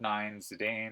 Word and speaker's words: Zidane: and fun and cheerful ff9 zidane or Zidane it's funny I say zinedine's a dawn but I say zidane because I grew up